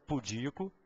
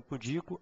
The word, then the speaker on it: pudico: Ó presta atenção então certo é pudico avaro rubrica Tem que memorizar a prova cobra então pudico avaro e rubrica são as formas corretas tá essas três são as que você escuta mais frequentemente pronunciadas de forma equivocada até do pessoal da área médica mesmo tende a pronunciar essas palavras de forma equivocada e propagar o erro aí por todo mundo tá o certo ainda